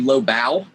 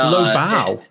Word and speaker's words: Lobow: Elevator pitch it's actually Lobow. It's Lobow. Yes, I know it's spelled weird or whatnot, but so Lobow